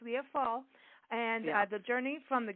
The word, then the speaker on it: Leah Fall: Leah Fail, but it's Leah Fall.